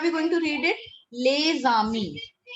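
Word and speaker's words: les amis: Lezami. Lezami. Otherwise, if we individually pronounce this word, this is Ami. A-M-I-S. Lezami. But if we put lay before it, together they both become lezami.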